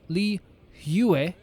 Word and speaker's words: Liyue: Liyue is pronounced Liyue.